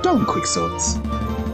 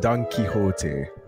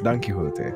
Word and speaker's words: Don Quixote: la dome quick swords there's a page from dumb quicksorts may i take it off your hands monsieur